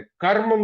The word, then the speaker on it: क्रम: उसी तरह से क्रम में बात करें तो क्रम में रा जो है का के साथ ही बोला जाता है।